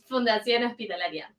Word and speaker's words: Fundación Hospitalaria: Fundación Hospitalaria.